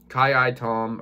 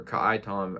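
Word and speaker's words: Ka'ai Tom: watch on the positive ki tom or ka tom as many pronounce it um he got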